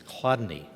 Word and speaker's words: Chladni: Now here's an example one of the people and I'm going to talk about today pronouncing his name is not easy it's Chladni, okay and this is what he said about